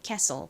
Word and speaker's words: castle: 뒷부분은 so 똑같고 앞부분이 K이죠. 기역 소리 나는 C에다가 에 소리 나는 A. castle입니다. castle 발음해 볼까요?